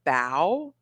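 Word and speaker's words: bao: then we ordered the bow sorry a bow so it's like are you pronouncing that correctly Bo you're right it's bo bo I still don't know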